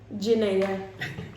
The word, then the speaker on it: Janayah: How do you pronounce it? Janayah.